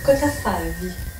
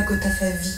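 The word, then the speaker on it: Costa-Gavras: D'ailleurs, si vous aimiez ce film, vous le prononceriez correctement. Et moi, voilà. Cota Favi. Et non pas Cota Favi, comme un titi.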